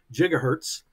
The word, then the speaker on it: gigahertz: 1,000,000,000 with a B cycles per second would be 1,000,000,000 hertz or 1 gigahertz. Or in some places, giga is pronounced with the J sound, so gigahertz.